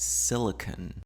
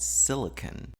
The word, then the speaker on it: silicon: that we're talking about silicon and that's the way it's pronounced so we're not talking about silicone but we're talking about silicon and silicon is spelled